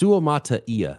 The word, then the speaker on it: Suamataia: do you pronounce Sumaya it's suamataia is how you're supposed sua yeah yeah he's